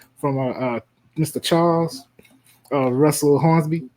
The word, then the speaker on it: Hornsby: Charles Russell Hornsby, Hornsby, but Charles, not BMF, and yeah, that.